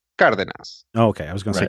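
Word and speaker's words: Cárdenas: de na s right which is in Spanish would be pronounced car than us okay I was going to continue angle sighs it presumably it would be Cardenas or somebody no idea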